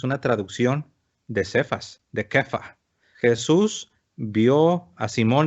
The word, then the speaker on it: Kefa: Esa palabra Cefas es aramea, es Kefa. Tú serás llamado Cefas. Cefas solamente es la forma castellana, es para que nosotros que hablamos castellano lo podamos pronunciar, pero es Kefa.